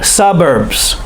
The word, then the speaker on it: suburbs: me try it then we say it faster suburbs suburbs and we say it normal suburbs the emphasis is on the first syllable suburbs don't forget the